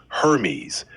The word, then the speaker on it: Hermes: The typewriter company Hermes is pronounced Hermes, with the emphasis on the first syllable.